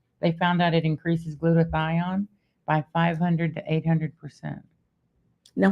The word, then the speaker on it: glutathione: Pronounce it again. Glutathione. Glutathione.